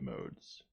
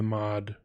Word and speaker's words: mod: which is effectively the mod rm byte um and it's using the mod i say mod but i think it's probably should be pronounced mode because it's talking about addressing modes so it's using the